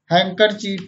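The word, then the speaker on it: handkerchief: कुछ और शब्द देखें, जैसे सैंडविच, वेडनेसडे, बैज मीन्स पदक, हैंकरचीफ मीन्स रुमाल, हैंडसम मीन्स सुंदर। इन सभी शब्दों में भी डी हमेशा साइलेंट रहता है।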